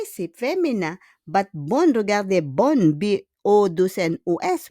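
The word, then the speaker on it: bonnes: Because bonne idée, c'est féminin, but bonne, regardez, bonne, B-O-2-N-O-S, we don't pronounce the S.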